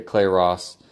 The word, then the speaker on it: Clay Ross: Okay, Clay Ross. It's spelled like it sounds.